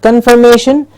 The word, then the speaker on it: confirmation: meaning yes can confirmation please remember it's not confirmation it's confirmation the may gets the stress may now this is a